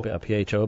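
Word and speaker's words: Phở: PHO, but it's pronounced Pho.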